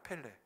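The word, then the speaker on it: פלא: 얘기하는 거 좋아하잖아요 근데 기적이라는 단어의 히브리어 발음이 레입니다 펠레 한번 해보시겠어요 펠레네 아주 유명한 축구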